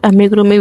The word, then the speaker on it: amigurumi: The pronunciation of amigurumi will be amigurumi.